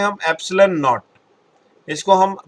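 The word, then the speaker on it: ε: ये जो मैंने ऐसे लिखा है ई बनाकर, इसको हम प्रोनाउंस करते हैं एप्सिलॉन।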